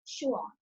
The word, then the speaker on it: Schwann: ठीक है बेटे, this is the correct pronunciation of the name of both the scientists, Cyclidin and Schwann.